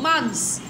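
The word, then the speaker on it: month: لا الاو سايلنت، نحط اكس تحت الاو مش هتتنطق، حط اكس تحت الاو مش هتتنطق. مانس يبقى اسمها ايه؟ مانس.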